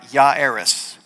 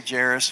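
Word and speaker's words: Jairus: It looks like Jerus actually um pronunciation would be ya yeris. Yeris since there's no pronunc pronunciation of J there. We're going to just say Jarus for um for convenience sake anyway because that's what it looks like.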